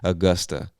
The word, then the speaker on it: Augusta: of this state is Augusta. I know it looks like Augusta or Augusta, but we say Augusta.